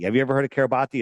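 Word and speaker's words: Kiribati: wide, and it's registered to the country of Kabati. Have you ever heard of Kabati? It's pronounced Kabat, but it's pron it's spelled Kabati.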